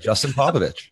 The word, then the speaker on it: Popovic: Because There's an invisible H. I thought that I had heard someone say it and they don't pronounce the C like that. I'm like, but that's how it's supposed to be pronounced.